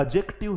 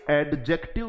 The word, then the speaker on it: adjective: बोलते हैं इसको साथियों कभी भी डी के साथ जब जे आता है तो यह डी साइलेंट हो जाता है जैसे आपने पढ़ा होगा